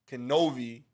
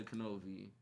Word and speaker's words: Knovie: So people, look out for my boy Knovie. With the K. With the K. Pronounce the K.